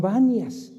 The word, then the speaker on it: Banias: poco su nombre porque los árabes no pueden pronunciar la p no le llamaban banias entonces también es conocida